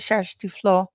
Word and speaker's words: Kjersti Flo: Her name is Kjersti Flo. That's how you say it in Norwegian.